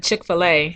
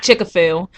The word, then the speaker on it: Chick-fil-A: uh they were serving chick-fil-a which is not chicka phil really why do you all say it like that shout out to phil